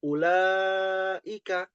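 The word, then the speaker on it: أولئك: madhir ya disingkat menjadi ula ika. Ada alif kecil di sini. Nah, ya ada alif kecil di situ. Nah, ulaika di sini dibacanya mad thobi'i dua harakat.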